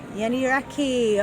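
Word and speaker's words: Yeni Rakı: And how do you pronounce it? Yeni Raki? Yeni Raki, okay.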